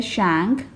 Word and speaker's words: Shang: So the correct pronunciation of these Chinese dynasties are, this one is a Chia, and this one is a Shang, and this one is a Zhou, this one is a Qin, and this one is a Han.